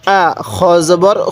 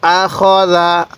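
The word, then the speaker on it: أَخَذَ: এরপরে হামজা জবর আ, খ জবর খ, জাল জবর জা, আখদা। অনেকেই আখাজা পড়ি, না, খ জবর খ হয়। তাহলে আখদা, আখদা।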